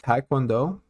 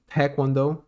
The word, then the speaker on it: Taekwondo: Taekwondo, wrong way to say it. Taekwondo, correct way to say it.